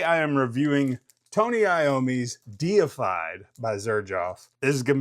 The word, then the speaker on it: Deified: And what better fragrance for a metal head to review than Tony Iomi's deified. Deified, not defied. I've heard a lot of reviewers call it defied, but it is deified because he's a metal god.